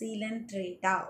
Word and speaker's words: Coelenterata: This is pronunciation is Coelenterata. Okay, a Coelenterata, COE. That is not a Coelenterata, it is a Coelenterata. Okay, this is the correct pronunciation.